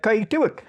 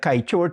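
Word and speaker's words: Kaieteur: name of the falls, they said Kaik Tiwuk. And Kaik Tiwuk sounded like Kaichor to him. And he put his own spelling and pronunciation, which is unto now Kaichor.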